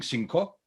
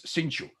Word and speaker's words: cinchu: She doesn't sing cinco, she sings cinchu. And she couldn't care less if people get it, if people don't get it. That's the way it's pronounced.